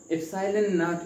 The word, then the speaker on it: ε₀: पे नॉट लिखा है तो एप्सिलॉन नॉट इसको हम प्रोनाउंस करते हैं।